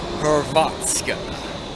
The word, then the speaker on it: Hrvatska: I'm in Zagreb, Croatia, as the same Croatian Hrvatska. Yes, starts with the HR. You gotta roll your R's when you speak Croatian, but the funny thing is, Croatian and Serbian language are quite similar.